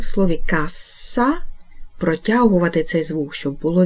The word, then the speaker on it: cassa: епойвай аказа Отже домовилися Каза і касса це різні речі вимовляємо їх чітко звертаємо увагу на подвоєні літери І до наступних випусків